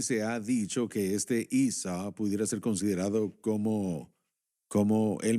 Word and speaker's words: Isa: ¿Cómo se Isa, llama? así lo ¿Isa? pronuncian. ¿Se llama? Isa.